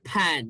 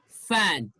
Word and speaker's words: fan: so this is fan when you pronounce this sound your upper teeth this one okay your upper teeth touches the lower lip like this fan never say pan that's wrong okay that's wrong it's fan fast feel live believe